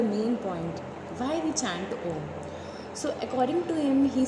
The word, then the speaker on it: Om: And when we pronounce Om, our two lips doesn't touch. Om comprises of three words, A, U and M.